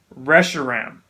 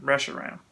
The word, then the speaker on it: Reshiram: got I can't even say his name right Reshiram Reshiram rush around let's go say rush around although Reshiram Reshiram